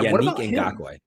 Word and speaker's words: Yannick Ngakoue: Yannick Ngakoue. Yeah, Yannick Ngakoue.